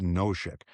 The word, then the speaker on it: Nosek: But I remember from Thomas, Nosek wanted Noshik.